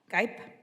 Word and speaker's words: Gipe: I want to make sure I pronounce it correctly. Gipe? Oh, see, I was going to say Gippy. I'm really glad you corrected me.